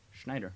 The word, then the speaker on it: Schneider: Sean, how do you pronounce that? Schneider.